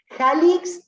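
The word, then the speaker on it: Jalics: Jalix se escribe como se pronuncia, así, con J, con C y con S, Jalix al final.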